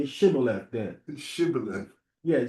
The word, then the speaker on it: Shibboleth: And he said, no, he didn't say, he said Sibboleth. Sibboleth. He didn't pronounce the H. He didn't say Shibboleth, he said Sibboleth.